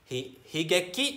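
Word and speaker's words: 悲劇: kalian belajar karena karena Si Sedih bacanya di higeki artinya saya jadi kalau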